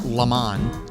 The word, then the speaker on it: Le Mans: The LeMans, pronounced LeMans, is arguably the most unique BMW ever produced.